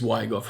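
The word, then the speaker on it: Zwigoff: this one's directed by terry's weigh off i think is how you say his name and it stars uh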